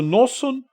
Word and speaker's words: Noson: só para você entender noson é a versão idish de Natan é que o o ID pronuncia o t hebraico o tav como S por isso eles não falam e muitas vezes nas nas músicas e nas palavras em vez de falar Torá ele fala soira soira entendeu e tudo